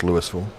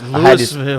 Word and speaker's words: Louisville: In Mississippi is pronounced Lewisville. Oh, okay. I didn't know the rules. So it's Louisville.